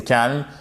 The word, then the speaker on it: calm: Peu importe votre inquiétude, restez calme. However worried you feel, try to stay calm. Et on ne prononce pas, pardon, on ne prononce pas le L ici, ok?